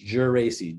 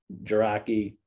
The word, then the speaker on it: Geraci: Because it's Geraci, Geraci. A lot of people butcher that Geraci, Geraci.